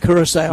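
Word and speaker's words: Curaçao: During the break check and see my schedule in Kansas City if it's it it's Am I pronouncing it right? Kurissau.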